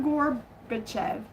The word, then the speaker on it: Gorbachev: Who said Mr. Gorbbitev? And I don't know if I'm pronouncing that right. Mr. Gorbachev. G O R B A C H E V.